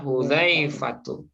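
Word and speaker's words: حذيفة: Nah, nama orang ini Zal, Bu. Ini Zal. Ya, Hudzaifatu. Oke. Di sini kira-kira mana taukidnya? Ada. Qa'ada. Ya, qa'ada. Jalasa qa'ada Hudzaifatu ya.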